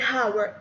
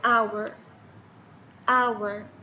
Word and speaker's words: hour: أوكي، الكلمة هذه تبدأ ب H، لكن ال H هنا silent ما ينطق، ما أقول hour خطأ، لأن الكلمة hour، الكلمة hour، نطق الكلمة اسمعوا مرة ثانية hour hour.